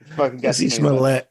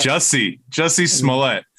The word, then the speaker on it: Jussie Smollett: How do you pronounce his name? Jesse Smollett. Oh, Smollett. Jussie Smollett.